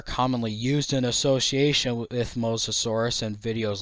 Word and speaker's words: Mosasaurus: C Rex there's also the classic pronunciation eror of mosasaurus instead of Mosasaurus it's not Moss lizard it's MOS lizard in reference to the mous river where the original fossils were found fossil evidence suggests that